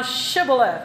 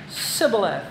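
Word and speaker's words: Shibboleth: Then said they unto him, "Say now Shibaleth." And he said, "Sibal." And he could not frame to pronounce it right.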